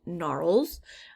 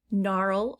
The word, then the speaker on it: gnarl: those are also called gnarls um gnarl starts the g but you can't hear it it's a silent g gnarl answer answer not